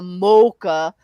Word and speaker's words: mocha: I say it's a mocha the long o is the best though exactly 82.